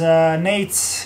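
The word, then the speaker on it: Najc: My real name is Nates, it's spelled N-A-J-C. The people who are living in the States or are English speaking usually call me Nate because it's much easier for them to pronunciate.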